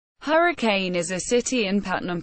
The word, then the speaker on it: Hurricane: Locals pronounce the town Hurricane, not Hurricane.